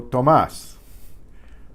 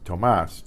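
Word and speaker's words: Tomás: with my namesake Santo Tomas Santo Tomas Santo Tomas now you hear that stress in the mass partisans Tomas that tells you there's an accent on that a Santo Tomas muchos Santos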